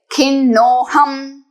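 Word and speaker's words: खिन्नोऽहम्: This S sign is not to be pronounced, so directly we will say khinnoham.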